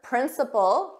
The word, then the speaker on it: principle: delay was the weather so remember principle this is a basic truth or moral Rule and principle the same pronunciation this is the head